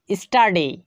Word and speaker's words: study: করতে হবে নিয়ম দুই কোন শব্দে এস এর পর টি ইউ থাকলে টি এর উচ্চারণ ট হবে উদাহরণ ফলো করুন স্টাডি স্টাডি যার অর্থ হচ্ছে